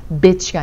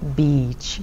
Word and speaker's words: beach: bitch가 아니라 beach.